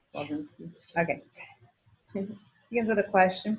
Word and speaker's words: Walczynski: Wolsinski. Pronunciation. Wolsinski.